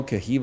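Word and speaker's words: Caoimhe: They don't even know Kahiva is not spelled like that. It's spelled C-A-O-I-M-H-E.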